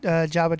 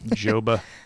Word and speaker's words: Joba: forget the Nebraska great Jabba Chamberlain. Joba. Is it Jabba or Joba? I pronounce it Jabba, but I think Joba. I've heard people say Joba and Jabba, but I always say Jabba.